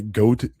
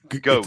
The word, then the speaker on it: Goethe: How do you say Goethe? Goethe. Off. Goth. Goat. I think it's pronounced Johann like Wolfgang von Goat.